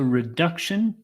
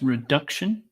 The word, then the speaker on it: reduction: focusing on poverty reduction so reduction second syllable stress reduction and we have three